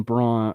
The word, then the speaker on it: Braun: Charles Barkley Warren um by the way Christian Braun Christian Brown is having a really really good game right now this guy all this guy does okay it literally says on her last name pronounced Brown it says that on the game okay you